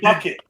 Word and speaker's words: Bucket: Up Appearances bucket bouquet she used to say bouquet everyone used to pronounce the name bucket that was [ __